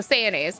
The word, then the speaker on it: Sayonnaise: Oh, it's pronounced like mayonnaise with an S. Okay, so sayonnaise can do.